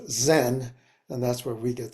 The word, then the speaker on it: Zen: Chan uh which when the Japanese brought Buddhism into from China Japan they pronounced Chan as Zen and that's where we